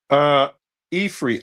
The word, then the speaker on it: Ifri: Ifri, IFRI is how they spell it. That's what And you she was asked Unc earlier. Is that where Africa come from? yes. Okay. I had said Afri, Yeah.